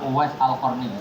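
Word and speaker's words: أويس القرني: Bacanya Uwais Al-Qarni, jangan salah harokat. Ya harus disukuni roh, ya Uwais Al-Qarni itu menangi Rasulullah Shallallahu Alaihi Wasallam.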